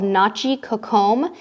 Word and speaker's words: Nachi Cocom: We can recommend in Cozumel a beach club that we've been to called Nachi Cocom, and it's spelled N-A-C-H-I, Nachi, and Cocom is C-O-C-O-M.